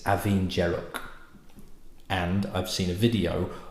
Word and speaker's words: Abhainn Dearg: done some research and I thought this might have been pronounced Avenger that was my guess that was my first guess but I've looked on YouTube and apparently it's aen jerro and I've seen a